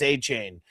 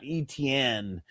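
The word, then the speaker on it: Etienne: That it's not ETN, that it's achain.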